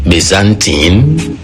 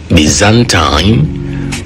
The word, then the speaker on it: Byzantine: Today's word has different pronunciations. Byzantine, Bzantine, Byzantine, or Byzantine. It all depends on your preference. But let's go with Bzantine.